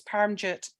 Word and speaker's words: Paramjit: and by the way pronunciation of my name it's paramjit thank you I think